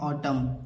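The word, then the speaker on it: autumn: को नहीं पढ़ना है तो इसे क्या पढ़ेंगे ऑटम ए यू टी य एम इसे ऑटम ही पढ़ा जाता है ऑटम माने सर्दी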